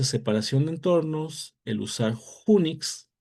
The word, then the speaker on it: Unix: de entornos, el usar unix, así se escribe, pero se pronuncia como Unix, Unix como gateway, eh